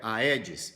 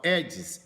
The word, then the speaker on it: Aedes: fala tenha assim como o mosquito não é aedes se escreve é disse mas você fala é diz egypt ok então escreve